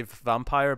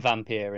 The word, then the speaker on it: Vampyr: I think it's still supposed to just say vampire, but I like to specify that it's different by going vampire. No, they kept saying Vampyr in all the the interviews